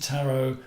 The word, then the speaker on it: tarot: passes people's attitude to tarot becomes different and there's still how do you say it correctly do you say taro i say a t a silent t why is it with